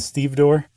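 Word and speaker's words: stevedore: the foreman is a Steve door okay you said that earlier and I pretended like I knew what you meant so it's it's spelled exactly like it's pronounced too like and it's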